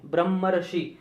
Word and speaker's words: ब्रह्मर्षि: अब इसके उच्चारण में हम देखेंगे, यहाँ पर देखेंगे कि ब्रह्मर, यहाँ पर थोड़ा सा अर ध्वनि उत्पन्न होती है, ब्रह्मर्षि।